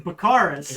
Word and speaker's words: Bakaris: I don't know either bakaris is the correct pronunciation like drug cards yeah like Bacardi all right yep I'm